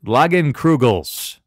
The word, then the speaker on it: Leinenkugel's: both events My partner in crime today is loggin crew gel's I've been consuming this for 3 years and I still can't pronounce the damn name le I n en